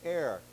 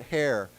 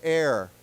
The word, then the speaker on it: heir: So when we say heir, we don't pronounce it hair. It's pronounced without the H. It's like air, like 空气, right? So A-I-R. So let's say it together, heir.